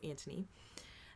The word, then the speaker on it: Anthony: i read it as anthony but in the show it's antony now his personal ethos